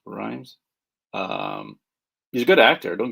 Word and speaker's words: Rhames: He was it Rhymes or Rames? Rhymes.